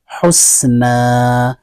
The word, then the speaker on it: حسنا: اب اس میں جب ہم وقف کریں گے تو اب نیچے دیکھیں حسنا، اس کی ہم ہجے کریں گے حسین پیش حس، نون الف زبر نا، حسنا. تو ہم نے دو زبر کی تنوین کو الف مدہ سے بدل کر کے پڑھا.